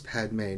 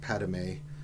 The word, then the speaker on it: Padmé: keeps mispronouncing your name it's padmé not padmé padmé sounds like something you would eat right like edamame right I want to